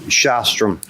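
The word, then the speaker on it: Sjostrom: Shostrom. You are suing? I'm sorry? Pronounce the SJ as SH.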